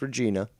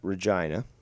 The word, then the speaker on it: Regina: you know fort mcmurray it's pronounced vagina i know it's a weird spelling it should be pronounced regina but just to let you know if you ever plan to go up to uh uh regina that um that's how it's pronounced let's continue it's for